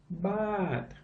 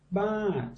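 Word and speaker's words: บาท: Remember this was the U-boat, the b sound. What's this? Ah. And this was the turtle. So what does this become? Baht.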